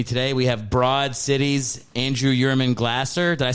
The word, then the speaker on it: Andrew Yurman Glaser: We have Broad City's Andrew Yurman Glaser.